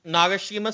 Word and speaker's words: Nagashima: I'd probably say either like some of the Japanese parks, like Nagashima Spa Land. I'm sure I'm pronouncing that wrong. Nope, that's actually correct. Yeah, Nagashima Spa Land.